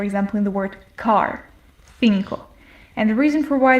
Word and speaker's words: cinco: The first one is more similar to an S sound or the TH sound in the English word think, while the other is